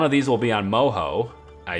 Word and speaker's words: Moho: know I don't know but either way it's pronounced Moho guys we know it's pronounced I know what